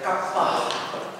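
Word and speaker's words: kappa: i k iota kapa Ya kapah seperti pada kata kuda ya perhatikan huruf besar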